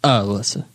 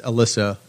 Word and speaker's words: Alyssa: And it is like Melissa without the M at the front of it. Some people spell it like Alyssa Milano. That's not what we were going for. It's Alyssa, right?